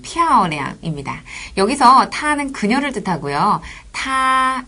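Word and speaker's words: 他: 여기서 타는 그녀를 뜻하고요 타 이렇게 높게 발음해 주시면 돼요 타 그 를 워로 바꾸면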